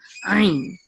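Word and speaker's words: עין: And this ayin, they also say that this is silent, but if it were guttural, it shouldn't be silent, right? So the real sound that ayin was supposed to make is ayin. Ayin. It's like you're a Klingon.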